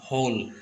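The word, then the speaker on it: whole: लिए ठीक है यह कि आपके ब्राइटनेस का होल यह जो डब्लू है यहां पर साइलेंट होता है ठीक और हॉल में ठीक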